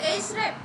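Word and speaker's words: Ahrefs: হ্যাঁ, এটার উচ্চারণ হচ্ছে এইচরেপ, এইচরেপ, এইচরেপ, এইচরেপ, হ্যাঁ ওটা একটু সমস্যা।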